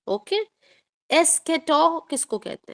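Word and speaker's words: eschatology: eighty O एस के सीच वाला च जो है ना व ख के तरीके से यहां पर बोला जाता है एस्केटोलॉजी या फिर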